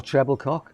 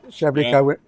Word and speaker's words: Treblecock: Or Treblecock. Yeah, Treblecock. Yeah, you know. It's pronounced Treblico. yeah, Treblico.